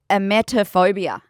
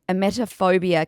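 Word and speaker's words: emetophobia: this phobia or this disorder, but it's called a metaphobia. I don't know if I've said that wrong. It's spelled E M E T O phobia.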